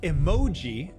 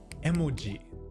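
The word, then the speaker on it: 絵文字: So, if you're speaking Japanese, it's not emoji, but emoji, each kana being the same length.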